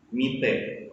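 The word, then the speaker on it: 見て: Penggunaan te di sini dibaca cepat, tidak seperti kata yang sebelumnya. Kalau kata sebelumnya tadi memiliki double T yang diucapkan itte, kalau sekarang diucapkan cepat, mite, seperti itu.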